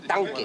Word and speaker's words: tanque: Tanco no se dice. Tanque, tanque.